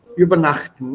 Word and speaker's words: übernachten: And the stress is on this syllable here. N. Not übernachten, sondern übernachten. Remember Betonung? Yes. Übernachten. Ja, übernachten. Wenn man das falsch betont, dann hat das Wort eine falsche Bedeutung.